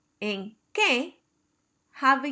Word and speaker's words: que: The Q and the K are both pronounced like a K.